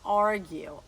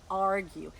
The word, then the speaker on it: argue: Org e de novo presta atenção na pronúncia a gente escreve argui mas a gente não largura né a gente fala órgão órgão Esse é brigar no